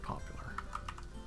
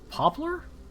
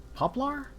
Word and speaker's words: poplar: with could do black popular how is that pronounced poplar poplar poplar p-o-p-l-a-r black poplar there's no e that's what threw me off i know it's gonna